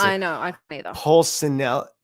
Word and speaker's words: Pulcinella: Pulcinella. If it's Pulcinella, or if it's Spanish, Pulcinella. It's Italian. Pulcinella. It's either way.